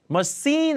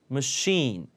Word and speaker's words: machine: machine 발음 machine 아니고 machine 할 때 쉬예요.